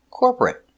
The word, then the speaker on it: corporate: T corporate corporate corporate two syllables not three not corporate two corporate corporate stress on the first syllable corporate corporate he works